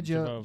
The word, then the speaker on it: Jovovich: Saw Miss, I'm gonna say her name wrong. Jovich. Mia. Jova. Yeah, Jovovich.